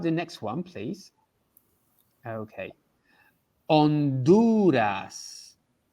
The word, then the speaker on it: Honduras: next one please okay honduras this is the h we don't see the h in spanish we say you would say honduras okay is it anything